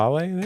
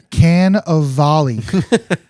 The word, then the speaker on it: Cannavale: Carnivale? Kind of. Is that how do you pronounce it? Can of volley. What'd I say? Carnivale? Carnivale. You said carnival.